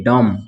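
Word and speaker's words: dumb: उसके बाद ये पढ़ेंगे दम बी साइलेंट हो जाएगा ठीक है दम उसके बाद ये पढ़ेंगे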